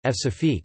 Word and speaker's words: Françafrique: Francafrique, French pronunciation, F-safique, is France's relationship with its former African colonies.